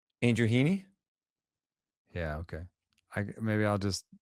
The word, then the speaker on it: Andrew Heaney: Andrew Heaney?